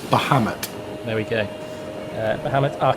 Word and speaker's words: Bahamut: conveniently named by Matty, and I'll let you pronounce it, Matty, since you're here. It's Bahamut.